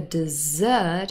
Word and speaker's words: dessert: can remember this because the dessert has the stress on the last syllable because it is the last meal now desert has the